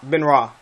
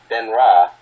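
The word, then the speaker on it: Benoist: don't remember her name Ben ra this it's pronounced Ben ra Ben ra yeah like Chris Ben ra okay sure whatever you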